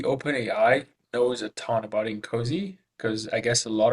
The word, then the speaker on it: INCOSE: So OpenAI has access to it, and it's absolutely capable of guiding the users following Incosi practices. I'm glad you pronounced that properly, Louis.